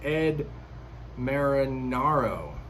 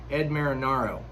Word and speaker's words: Ed Marinaro: lefford as grace i have to stop to pronounce this name properly it's ed marinaro that's one i have to practice practice practice and still struggle with ed marinaro boom got it he plays bill uh robert